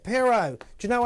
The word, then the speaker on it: Pierrot: Pierrot the Acid Clown. That's how you pronounce it. Pierrot.